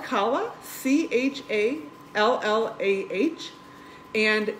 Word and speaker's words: challah: do you stall the name of this bread it's spelled kala ch a ll aah and in the description